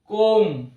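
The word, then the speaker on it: comb: কিন্তু উচ্চারণটা হবে বোম কম চিরণী যেটা কম অর্থাৎ শেষের বি সাইলেন্ট এম এর পরে বি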